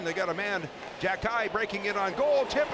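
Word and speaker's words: Xhekaj: I was calling him Jakai earlier, but listening to the Montreal Canadians uh uh broadcast where his brother plays for Montreal, they're calling him Jackie.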